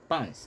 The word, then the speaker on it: lbs: 120 pound of yield so lbs can be is pronounced as pounds i think okay pounds